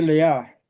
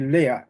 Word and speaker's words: Lea: Bueno, en hebreo dice lea, ese nombre se pronuncia así, pero como en español están acostumbrados a decir lea, pues vamos a seguir esa costumbre.